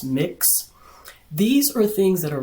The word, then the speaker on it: Mx: know someone's gender like MX it's pronounced mix these are things that